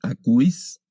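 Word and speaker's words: ἀκούεις: Este diptongo se lee I, únicamente como I, akouis.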